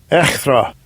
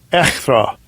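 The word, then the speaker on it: ἔχθρα: Okay, let's look up the word enmity, the pronunciation in the Strong's G. Strong's G, 2189. Echthra. Echthra.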